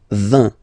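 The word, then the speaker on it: vingt: And the last one, so this G letter is here, but you don't pronounce it, okay? And then final T doesn't exist phonetically either, so basically you will only need to pronounce these 3 letters.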